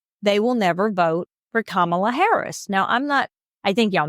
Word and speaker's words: Kamala: So that opens the gate, and everybody assumes Kamala Harris is going to be, or Kamala, I think she pronounced it, Kamala Harris, is going to be the party choice for for president.